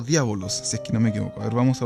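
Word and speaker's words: διάβολος: o el adversario bien griego se dice o diábolos sé que no vamos a buscar inmediatamente cómo es que se pronuncia el en griego diábolos significa calumniador y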